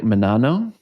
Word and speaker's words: Menanno: I am pronouncing that correctly, like Menanno? Yes.